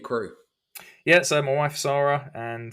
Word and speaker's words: Sara: So Sarah, how many people call her Sarah? Oh, everyone. Yeah. Sara is how it's spelled, but everyone calls her Sarah.